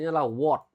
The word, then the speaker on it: what: Jadi, pengucapannya bukan "wa-te," tetapi "what." Tuliskan.